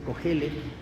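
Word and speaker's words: Qohelet: se sitúa comúnmente a cohelet que es como se pronuncia cogele aunque se escriba con q A mediados del siglo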